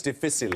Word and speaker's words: difficile: Clostridium difficile. Yeah, I'll accept that. It's difficile, I think it's normally pronounced, but yes.